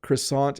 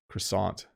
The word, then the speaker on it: croissant: flaky here is sadly i have to pronounce this in the way english speakers pronounce it this in canada is called a croissant i apologize to all my french speaking listeners but if croissant is very very flaky